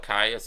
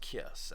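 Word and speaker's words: Kyuss: Caius is the biggest stoner rock band. Queens of the Stone Age. I think it's pronounced Kiss, actually.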